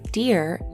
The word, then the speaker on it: dear: Both of these words have the same pronunciation.